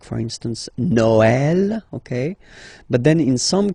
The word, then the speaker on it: Noël: that in some cases you will have to pronounce it like eh, okay, like for instance Noël, okay, but then in some cases as well it can be pronounced like eh, okay.